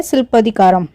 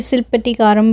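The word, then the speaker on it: சிலப்பதிகாரம்: उसमें से एक है शिल्पदिकारम, जिसे शिल्पटिकारम भी बोला जाता है।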